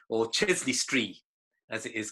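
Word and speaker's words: Chester-le-Street: pelton fell just outside the market town of chester street or chesley street as it is correctly pronounced we lived in a cute little semi-detached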